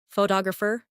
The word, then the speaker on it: photographer: For example, photograph, photographer, and photographic. The stress moves, and that changes the sound. Try saying them slowly after me. photograph photographer, photographic Great.